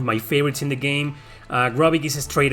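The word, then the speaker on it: Grobyc: Gropic, you know, it's a cyborg pronounced backwards, Gropic.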